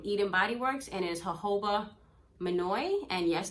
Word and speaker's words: jojoba: This one is from Eden Body Works and is jojoba manoi. And yes, the word is pronounced jojoba, not jojoba. The J's are silent.